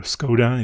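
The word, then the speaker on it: Škoda: The Skoda, or Skoda if you want the English pronunciation.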